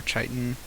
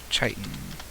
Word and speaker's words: chitin: takes keratin or Titan I'm gonna look up how to pronounce that actually because I I still don't know even even now tighten tighten tighten tighten okay I've been pronouncing it wrong since I came out hmm she learn